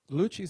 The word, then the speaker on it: Lucci: jamila bay the susan lucci lucci spelled phonetically l-o-o-c-h-e-e she either wants me